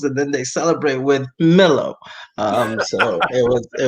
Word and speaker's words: Milo: so this is Milo how do you say it quazy it's Millow okay it's Millow get it right end of story with it Milow everybody knows that yeah what's this Milo business is Milow so yes if you're